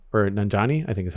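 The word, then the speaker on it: Nanjiani: kind of stuff um and then camille uh nanjuni or nanjani i think is how you pronounce his name as hajja estri pulled me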